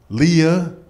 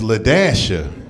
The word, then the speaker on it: Leashia: what's wrong with you it says Leah right here on this card she said uh-uh my name is leashia the way here